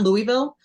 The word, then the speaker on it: Louisville: So people know that there's a way Louisville here pronounce it. It's almost one. I say it's 1.5 syllables.